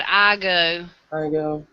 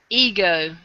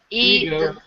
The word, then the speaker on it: Ego: look like no it's called Io Io or I'm sorry ego e you go yeah yeah the letter e and then g o I might one of